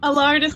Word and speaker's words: Allardice: Allardice like a Tardis.